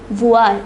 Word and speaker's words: voir: a bit different it is voir it is pronounced voir it means to see note the pronunciation it